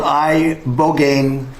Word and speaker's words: ibogaine: In 2024, study from Stanford University, 30 special operation veterans with traumatic brain injuries underwent It's called ibogaine treatment. Ibogaine. Remember the name. Is that pronounced relatively properly, would you say?